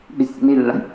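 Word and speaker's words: بسم الله: menyebut nama Allah nah cara membaca lafal atau lafaz Allah ketika sebelum nya diawali dengan harakat kasrah maka Hai cara membacanya itu tapi kok atau tipis Hai bismillah bukan Bisma urukan harus nunggu tapi Bismillah Hai Rohman adalah link as-syamsiyah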